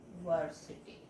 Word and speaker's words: university: So this u is pronounced as u, ni, university. So this u is pronounced as uni.